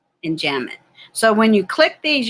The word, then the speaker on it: enjambment: meter rhyme refrain and enjam mint the b is silent enjambment so when you click